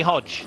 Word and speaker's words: Hodeg: family's time in Colombia but pronounced Hodge and Alber hod the